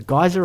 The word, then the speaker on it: geyser: it's like a geyser a geyser or Geer I always pronounce it geyser because Geer to me sounds like you're talking about an old person or maybe up here